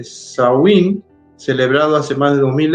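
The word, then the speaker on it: Samhain: Dice, definitivamente los orígenes de Halloween se encuentra en el antiguo festival Celta de Shamain, pronunciado eh saí, celebrado hace más de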